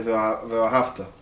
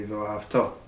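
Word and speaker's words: וְאָהַבְתָּ: So we say Ve'ahavta. The proper way to say that would be Ve'ahavto.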